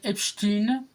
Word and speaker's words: Epstein: des phrases que avec Epstein. Donc ça se prononce Epstein. J'ai vérifié sur internet, c'est pas Epstein, c'est Epstein puisque c'est américain et donc ça se prononce comme ça.